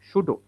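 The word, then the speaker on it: pseudo: এটা উচ্চারণ হবে না। সুডো উচ্চারণ হবে পি এসই ইউ ডিও সুডো।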